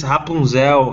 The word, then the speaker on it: Rapunzel: on fictional characters oh yeah in portuguese is hapunzel in spanish is rapunzel it's different the pronunciations are yeah that's exactly it you're welcome